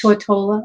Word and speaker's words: Tortola: loved yeah we were on the yellow it's pronounced Tortola okay was it Old Town yeah it's all